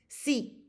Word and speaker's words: sí: Sí. Sí.